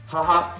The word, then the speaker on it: haha: Haha ou haha. Pour moi, c'est haha. Un peu comme quand je sors mon collier dans Koh-Lanta. Comme ça, là. Je fais haha. Voilà. Haha. On prononce bien le H.